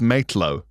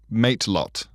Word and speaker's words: matelot: I think it's matelow. How are we spelling it? Matelot. Right. M-A-I-T? No, mate is in friend. And then lot mate. is in loads.